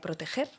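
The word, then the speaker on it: Protejer: Y eso es de lo que soy directora, que es de la cátedra extraordinaria Proteger, que se escucha con G y se escribe con J.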